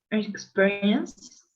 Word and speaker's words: experience: Experience. Okay, remember that this E here is exactly like an E, so it's experience, experience.